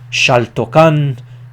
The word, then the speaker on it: Xaltocan: The X in the Nahuatl language is pronounced sh, so Lake Xaltocan, Texcoco, Lake Xochimilco, and Lake Chalco.